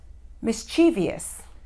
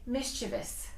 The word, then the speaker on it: mischievous: pronunciation is mischievous mischievous don't say mischievious you will hear some Americans say that but you shouldn't pronounce it that way it's mischievous mischievous is